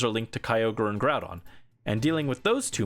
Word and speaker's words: Groudon: My way of pronouncing Groudon has been forever altered. It's Groudon now.